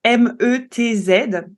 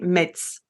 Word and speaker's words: Metz: vous verrez que Metz, ça s'écrit en fait M-E-T-Z, donc on a tendance à le prononcer Metz Ouais, et moi je fais l'erreur, je historiquement dis Metz.